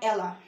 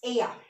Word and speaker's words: ella: Remember in our abecedario, double L is Y, so it's ella. It's not ella. It's ella.